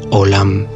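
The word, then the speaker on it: עולם: primer lugar mencionar que la palabra mundo en hebreo se pronuncia o lahm ésta proviene de alhama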